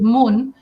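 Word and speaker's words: Mun: call her man m-u-n in Spanish I pronounce it Moon kind of like the moon in English so Moon and me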